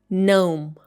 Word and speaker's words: gnome: It should be pronounced like gnome. Gnome.